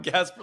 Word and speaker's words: Gaspare: So at an early age, I realized just say like Casper with a G, and it works much better.